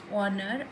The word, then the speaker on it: honor: Before the word beginning with H but not sounded. For example, we have words like honor, are, honest man, where